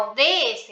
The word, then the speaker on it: ODS: Tenemos en el caso de los ODS, los Objetivos de Desarrollo Sostenible, una sigla, ven que se pronuncia ODS, letra por letra.